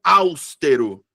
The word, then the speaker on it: austero: Tem uma galera que pronuncia austero. Austero. Eu fico... Hã? Que? Como assim? Então, sílaba tônica é a penúltima sílaba, então é paroxítona.